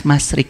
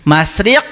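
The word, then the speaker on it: مشرق: Lajeng lepat bu kirang sanes masrik masriq.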